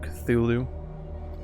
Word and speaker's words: Cthulhu: calling it call of cthulhu because that's how i know to pronounce it it's not supposed to be pronounceable by humans but that's stuff that